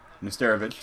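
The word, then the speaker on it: Nesterović: Nesterovic.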